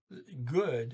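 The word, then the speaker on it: godt: well got okay but note that good is g o d good um and you add the t it goes to gaut but excuse me the god don't pronounce the d either so it's a goo or good okay that's the word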